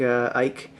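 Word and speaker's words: Eycke: have a singer named Eric Ike e YC ke I think that's how they pronounced it and so they did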